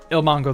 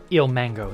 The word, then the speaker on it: ilmango: Ilmango, the redstone god. Ilmango, not Mongo. What am I? His name is not Japanese. Keep pronouncing it like it is.